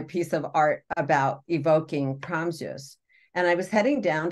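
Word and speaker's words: Praamžius: So she emailed her cousin in Lithuania, and it's pronounced like Promsus or Zeus.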